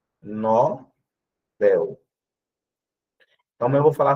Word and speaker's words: Nobel: O prêmio é Nobel. Então, mas eu vou falar sobre isso. A pronúncia correta é essa, tá? Nobel. A prosódia que é a tonicidade está no B e não o nó.